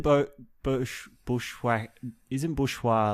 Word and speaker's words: Bourgeois: yeah so I mean the French tell me how to pronounce it they say it's it's bourgeois bourgeois but you know I'm like made I'm Australian my last name is bushwa like Bushwhacker but isn't isn't boat